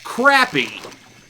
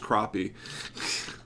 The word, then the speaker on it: crappie: from sega bass fishing where they were like crappy they were like it's actually pronounced crappie that's funny um what's the difference between a